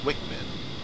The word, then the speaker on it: WCMD: the wind corrected munition dispenser wcmd often pronounced Wickman like the Paveway 2